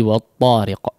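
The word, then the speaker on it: والطارق: Tapi peringatan yang lain adalah di huruf waw mungkin ya, di huruf waw ya, jangan di wo bunyinya, difathahkan ya. Wat-tariq la, wa fathah disempurnakan pengucapan fathahnya daripada huruf waw. Wat-tariq wa, jangan dibiarkan di depan. Huruf waw memang dimonyongkan secara bacaan ya, tapi ketika to ya usahakan tidak perlu di depan ya, atau tidak perlu dimonyongkan kedua bibirnya. Wat-to ya, wat-to, biar tidak jadi wat-to, wat-tariq ya, wo.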